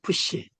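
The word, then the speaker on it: ψ: 요거를 갖다가 우리가 푸시라 그래요. 푸시. 이것도 이중자음이에요. 발음은 피읍, 시옷.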